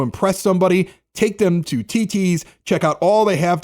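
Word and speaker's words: Thi Thi's: Fire Ed the art of food is at TT's restaurant it's spelled thi thi it looks like th it's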